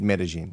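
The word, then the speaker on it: Medellín: No, Medellin. It's like, I don't know how it's spelled, but I know it's said Medellin.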